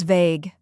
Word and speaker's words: vague: The correct pronunciation is vague. Let's break it down. It's a single-syllable word with a long A sound, like in day or say, and the G at the end sounds like in give.